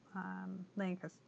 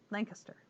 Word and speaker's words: Lancaster: I also got corrected today because I was saying Lancaster? No, Lancaster, incorrectly.